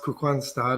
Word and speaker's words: Kristianstad: I'm in the south, not very far from Malmö, in a town called Kristianstad, which is spelled Christianstad, and but it's pronounced Kristianstad or Kristianstad because it's Danish.